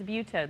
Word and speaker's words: Butaud: It's Butaud, the D silent. Butaud, D is silent.